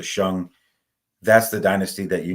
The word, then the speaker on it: Shang: Shan Shan Dynasty which you guys are probably calling the Shang but it's pronounced the shung that's the dynasty that